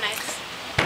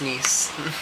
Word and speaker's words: Nice: it says talk of nice no it's pronounced niece it's a it's a